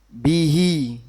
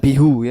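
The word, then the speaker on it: بِهِ: Kalau diberi harakat kasrah contohnya bihi, bukan bihu ya.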